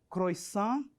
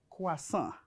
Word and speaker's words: croissant: Decimos aquí croissant, intentando pronunciar la O y la I como hoy. Pero la O y la I en francés, cuando se unan, se pronuncia wa. Por esto, la pronunciación es croissant.